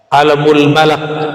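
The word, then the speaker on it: عالم الملك: Alamul Malak. Jadi yang pas bacanya malak ya.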